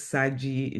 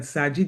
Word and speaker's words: Shadgie: For those who don't know me, my name is Saji. And yes, in English people will say, but Saji, the in my name is silent. I oftent times say Saji like Sagittarius.